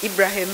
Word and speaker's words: Ibrahim: in the Bible or in the Islamic world Ibrahim as it is pronounced when God came to